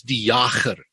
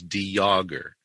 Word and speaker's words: Jager: The real pronunciation, which I don't use, is Jager. Okay, Jager. Dutch name, and it's got a guttural G. I was born in South Africa. Okay. So, I would have definitely butchered that one then. No. The pronunciation that we use is Jager. It's a very silent J. Jager. It's a French pronunciation, which fits in with